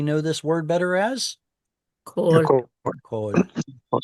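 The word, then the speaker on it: כל: Or in the unstressed form, kol. So there's that principle again, that original oo vowels turn into o vowels in a stressed syllable or kamatz katan in an unstressed syllable.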